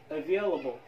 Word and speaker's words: available: هنا في الكلمة available هنا حرف الـ A عبارة عن شوا. available available أو available.